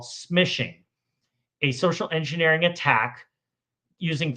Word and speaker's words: smishing: So, instead of calling SMS, we call it smishing. and it rhymes with fishing.